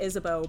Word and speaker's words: Isabeau: Wait, question, how is Isabeau's name pronounced? Well, I just said Isabeau, but in French it would be Isabeau. But who has time for that?